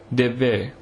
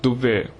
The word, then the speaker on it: Devve: The Badagas of the Nilgiris hold an agricultural festival called Devve, which should on no account be pronounced Dubve, which means burning ground.